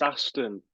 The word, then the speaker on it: Aston: It's pronounced Aston though.